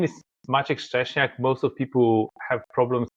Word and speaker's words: Maciek: have problems pronouncing it it's a Polish name so for the 25 years of my career the compact HP and HP I was better known as that's the closest pronunciation to the Polish name of machek uh and uh well